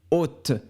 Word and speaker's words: haute: au féminin on dit haute on prononce seulement le thé à la fin on ne prononce pas le e donc on dit hot